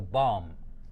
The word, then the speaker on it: bomb: can hear me well I'm not mentioning where I'm not pronouncing the last be in the word right so the last B here is not is not audible audible means something that